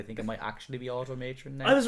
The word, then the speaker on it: Automatron: a fallout 4s a new DLC automatron or at Omicron if I was calling it but I think it might actually be automatron that I was right but well that's how